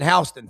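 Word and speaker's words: Houston: He could not beat out Jake from out of uh Hston County, Warner Robbins, Georgia. They pronounce it Hston for whatever reason over there.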